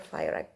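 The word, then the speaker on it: FIRAC: Kalau tulisannya itu F I R A C virak gitu. Tapi kalau bacanya firec ya.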